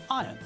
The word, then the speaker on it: iron: when we pronounce the word correctly then we pronounce it as iron when Jeremy Irons wants to iron his shirts